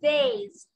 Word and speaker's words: vase: vase هنا الاس انطق ز، اقول vase.